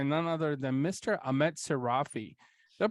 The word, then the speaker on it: Seirafi: am joined by none other than Mr Ahmed sirafi they pronounced that correctly by the way yeah you